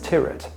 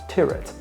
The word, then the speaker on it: Tyrwhitt: saying the name is tyet pronounced tyet to rhyme with Spirit personally I didn't even know I was always calling it Charles Stewart and I thought that's